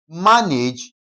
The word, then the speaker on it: manage: Now, this manage, whenever you are stressing a word, okay? That is disyllabic, okay? That is what now? A noun. Okay, what do we do? We always place the stress on the first syllable. Take note of that. So, manage, okay? Ma will carry the what now? The stress part, okay? So, m a will be stressed, simply because what now?